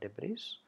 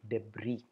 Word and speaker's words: debris: a lot of debris I'm sorry it's not debrief kindly change it to debris don't pronounce the yes the beautiful beach is full